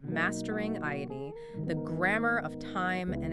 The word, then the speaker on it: 間: period of time, and the character is pronounced "aida." And just as a quick note for anyone familiar with Japanese who's listening, we are strictly reading this character as "aida" today, never "ma."